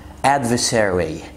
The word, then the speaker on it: adversary: طيب كلمة تانية برضو فيها ار واي وفيها ار في النص، adversary adversary ما تنطقش اول ار، انت الار واي في الاخر، يعني منافس او منازع.